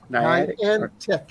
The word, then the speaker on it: Niantic: So Chris Nealon said he's waiting for me to pronounce Niantic. yeah, Is that Niantic? Niantic.